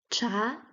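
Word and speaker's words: 茶: ch ch ch ch second tone we have cha cha which means tea means Chinese tea I I becomes chai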